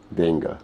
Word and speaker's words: d'Engle: Help me pronounce the second name. Dengel.